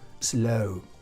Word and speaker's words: slow: hablemos de pronunciación, que esas S's que nos encontramos al principio de palabras que no llevan ninguna vocal delante, lo que tendemos los españoles a pronunciar es es, ¿vale? Le solemos poner una E delante. No, no lleva E delante, no es slow, sino es slow, slow.